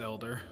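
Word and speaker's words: Helder: Pronounced elder. Elder. A elder in my arms. I worked with somebody spelled their name like that. It's pronounced elder usually.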